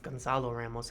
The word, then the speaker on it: Gonzalo Ramos: been told is that con Carlo Ramos Gonzalo Ramos I think is actually how it's pronounced Gonzalo Ramos from Portugal